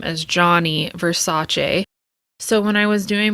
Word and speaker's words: Gianni Versace: pronounce his name as Gianni Versace as I so lovingly did my entire life it's actually pronounced Gianni Versace in Italian so we thought we